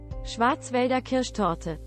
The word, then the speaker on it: Schwarzwälder Kirschtorte: Okay, let me learn how to actually pronounce this Black Forest Gatto in the original language. Schwarzwälder Kirschtorte.